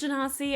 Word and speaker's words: Genasi: I think it's pronounced Genasi, at least that's how Felix and I pronounce it.